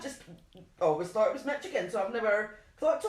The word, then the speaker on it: Michigan: Michigan. To stress on the first syllable.